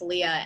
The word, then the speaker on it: Leia: think her name is Leia Weiss felt the same but pronounced Leah and I um have